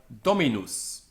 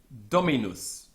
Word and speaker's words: Dominus: the penultimate is light so we have Dominus Dominus where the accent is on the anti-pen out because the penalt is light so Dominus this is